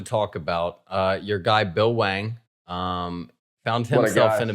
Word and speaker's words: Bill Hwang: if you look up bill wang which i haven't pulled up on my screen that there's an h as well the h is silent yeah yeah the h